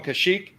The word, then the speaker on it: Kashyyyk: about that's right wikipedia is not based on kashyyyk it's not run by wookies for your thank you tommy for pronouncing that right always go ahead jj what'd